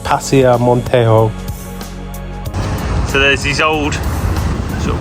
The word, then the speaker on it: Paseo Montejo: So the place we're heading to is on that road right at the top there, and I think it's pronounced Paseo Montejo.